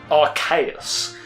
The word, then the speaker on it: Arceus: So it's like, I kind of believe that the name is pronounced Arceus, which refers to the fact of being archaic, old, ancient, and that. So, so it's like, I see it more as Arceus.